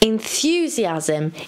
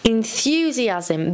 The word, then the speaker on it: enthusiasm: an entrepreneur an entrepreneur the second word is enthusiasm say it with me enthusiasm enthusiasm the stress is on the th sound for let's have an